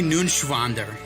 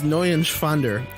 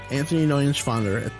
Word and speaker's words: Neuenschwander: Anthony Nunschwander. You didn't pronounce it right. What's up? Anthony Nunschwander. It's N-E-U-E-N. It's Neuenschwander. Anthony Neuenschwander.